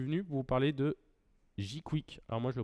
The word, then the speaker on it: jqwik: Aujourd'hui, je suis venu pour vous parler de Jquick. Alors moi je le prononce comme ça, mais c'est peut-être Jquick, je